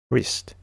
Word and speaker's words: wrist: Wrist.